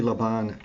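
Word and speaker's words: Laban: is by the way the Trinity leban Chapel choir yes rhyme with carbon okay thank you it's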